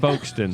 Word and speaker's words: Folkston: pronouncing the L but you don't pronounce the L FK F say folon Folkston with no l correct but it should be folston it it it should be folon should be all right